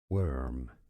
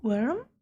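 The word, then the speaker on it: wyrm: Worm. Yes, I know. Worm? Just like WORM.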